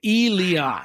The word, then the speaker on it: Elias: Okay, it's EE, which is obviously E, and then the next part is capital LEE, Lee, and then AHS, Oz. So Elias.